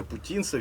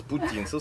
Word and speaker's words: Путінцев: Бінго в мене прізвище путінцев я наголошую на літері у наголошую на літері у яку не потрібно в цьому прізвищі робити наголос путінцев саме я з бахмута